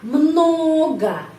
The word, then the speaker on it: много: Jadi huruf O ini dibaca tetap huruf O, sound O, tapi O ini dibaca A. Много ya.